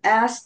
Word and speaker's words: asked: He asked this. 물으셨어요. 과거형이죠. ask의 과거형. He asked. asked. 네, 그렇죠. did. ed가 붙는데 이 트, 이 발음, 이런 무성음 다음에는 트 발음이 납니다.